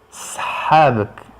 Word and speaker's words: صحابك: Sahabak. Sahabak. Sahabak, le 7 se prononce sahabak.